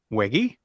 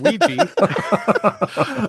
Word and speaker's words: WEGGI: I'm gonna attempt to pronounce this game. Is it WEGGI? Nope. Ouija.